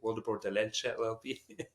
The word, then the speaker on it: Wildeboer Dellelce: LLP, or for the ones that want to pronounce the last name correctly, Wildeboer Dellelce LLP.